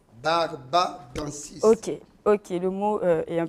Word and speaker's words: Barbadensis: Mais ce gel, vous avez dit qu'il est récupéré dans l'aloe vera Barbadandis. Barbadensis. Ok, le mot est un peu difficile à le prononcer, mais vous venez de dire tout à l'heure que l'aloe vera du Congo était plus efficace.